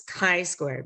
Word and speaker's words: chi-square: It looks like chi, but it's a hard C sound, so it's a k sound, and it's chi-square.